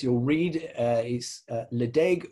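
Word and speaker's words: Ledaig: read uh is uh la deg or phonetically le chick which is the original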